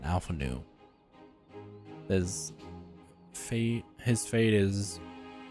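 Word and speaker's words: Alphinaud: bringing me news of alfana Alpha no the D is silent Alpha new there's fee his fate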